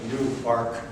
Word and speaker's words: Newark: yes by the way that is new arc the accent is on second so we'll having lived there